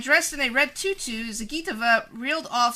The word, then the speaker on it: Zagitova: Zagitova. Zagitova. That's it. Alina Zagitova edged out Venya Mendeva. No, it's not pronounced that way.